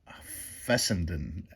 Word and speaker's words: Fessenden: the Secretary of Treasury of the treasury uh fessenden f-e-s-s-e-m-d-e-n fessenden was his name he decided he